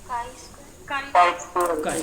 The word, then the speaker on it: chi: काई square में confuse मत होइएगा, इसकी स्पेलिंग CHI है तो कहीं कहीं ची भी लिखा रहता है, लेकिन इसको प्रोनाउंसिएशन किया जाता है काई स्क्वायर के नाम से।